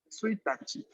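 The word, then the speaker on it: ついたち: En cuestión de calendario, se va a leer Suitachi.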